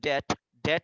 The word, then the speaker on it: debt: পরেরটা হলো but sometimes he runs into debt. Debt মানে হলো ঋণ.